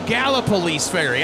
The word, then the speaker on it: Gallipolis Ferry: Gallipolis Ferry.